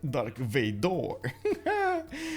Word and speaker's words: Dark Vador: you spell it out i always thought this dark vader everywhere but for some reason the frenchies call it dark vador okay whoa whoa whoa